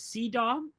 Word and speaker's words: CEDAW: The other one that exists is CEDAW, rhymes with hee-haw.